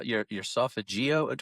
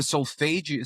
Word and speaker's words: solfeggio: Is it how pronounced Sophageo? The solfeggio. So as far as Sophageo. Yeah. solfeggio is, as I've heard, I think I've heard it pronounced that way, as well as read it a whole bunch.